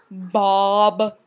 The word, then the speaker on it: Bkob: It's really pronounced Bob, but there's a K after the first B. And some people say Bkob because they don't know that the K is silent.